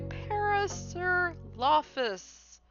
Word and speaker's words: Parasaurolophus: So, this has been our review for uh Trans Wizard Harriet Porbert and the bad boy Paris Lafus.